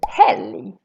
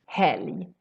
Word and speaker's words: helg: Same thing happens with the word helg, weekend. Also here we pronounce this as a U sound, because we have an L together with a G. Helg, berg, helg.